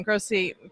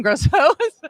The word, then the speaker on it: Grosso: so joining me is Patrick John Grossi sorry I said your name wrong John Grosso Mission critical facilities yeah